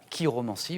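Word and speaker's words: chiromancie: lignes de la main c'est la kir Romanie voilà ch mais qui se prononce K et jadis àome comment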